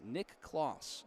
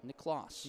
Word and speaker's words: Nicklaus: Jackson, I got to say on the pronunciation, Nick Klauss. Nicklaus. Nicklaus. Nicklaus. Nick kind of spelled like like Santa Claus.